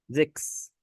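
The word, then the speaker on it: sechs: زكس. 6. زكس لان اللي تسي ها اس اخر ثلاث حروف دول بنطقهم معايا حرف اكس.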